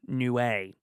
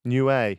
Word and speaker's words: Niue: Someone's DM'd me recently and said it's pronounced Niue. Niue, Isle of Niue.